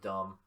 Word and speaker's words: dumb: I wonder if the person who invented the word dumb put a silent B at the end on purpose.